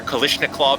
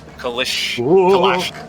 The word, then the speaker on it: Kalashnikov: Clue's last names are Kalishnikov and Glock, Kappa. That was a creative pronunciation of Kalashnikov. Kalashnikov.